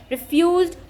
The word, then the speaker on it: refused: The municipal authorities refused to clean it up. Here the first syllable is not stressed and the second syllable is stressed.